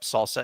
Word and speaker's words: SLSA: And then it's like, no, it's pronounced salsa.